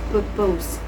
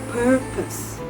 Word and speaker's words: purpose: Another word is a purpose which is often mispronounced as purpose. The correct pronunciation is purpose. Note the final sounds should be soft and not stressed into a or furthermore when learning English especially when transitioning verbs to nouns.